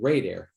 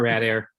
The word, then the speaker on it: Rad Air: I said it was Rad Air it's actually radar radiator and Air we say it both ways though radar Rad Air yep good deal now